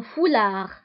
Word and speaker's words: foulard: وبالنسبة لهذا الثوب اللي كيرتديوه النساء كيغطوا به الشعر نتاعهم فيسمى un foulard. وبالنسبة للفولار تكتب بالدي في آخر الكلمة ولكن لا ننطقها.